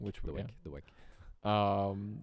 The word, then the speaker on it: WEC: What do you say, WEC or do you say WEC? I say I've always just been told it's whack.